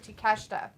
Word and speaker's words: Takeshita: A Vindicator says, I'm still amazed that Takeshita is actually pronounced Takeshita.